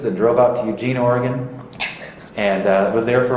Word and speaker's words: Oregon: state was called Oregon it's not Oregon by the way it's Oregon Oregon I didn't learn that